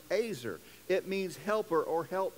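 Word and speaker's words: עזר: it looks like easier but it's not it's pronounced azer it means helper or help mate when he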